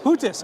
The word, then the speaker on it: Huettis: Huettis, okay.